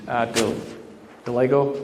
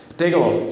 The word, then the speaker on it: Dagelo: One of the board members is Steve Delego. How do you pronounce the last name? Dagelo. Steve Dagelo, thank you.